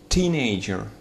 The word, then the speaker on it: teenager: Teenager. Первый слог под ударением.